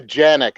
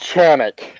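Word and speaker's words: Canik: It's pronounced with a C. I don't pronounce it aluminium either. I live in America. Lunaman? Aluminium. Yeah, I love don't know. people. It's pronounced Chanik. I'm like, shut up. It's pronounced Chanik in Turkey. When I'm in Turkey, that's what I'll call it.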